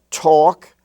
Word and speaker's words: talk: were spelled h-a-f-f and in the l-k family you have talk and walk where the a is pronounced like the a and all talk and walk even though it's in the milk and silk family as talk and walk as if it was spelled t-a-w-k or w-a-w-k walk now in lesson